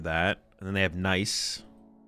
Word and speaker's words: Nice: And then they have nice that's how you pronounce it in where is this in France.